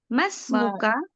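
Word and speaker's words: ما اسمك: Anta Ana Minal hindi Ma ismuka langsungkan bacanya Bu tanpa di baca hamzahnya jadi Mas muka oh oh Mas muka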